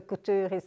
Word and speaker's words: couture: The couture are the headpieces and the jewelry. I don't know how to say it the English way. I only know how to pronounce that word the French way. Couture.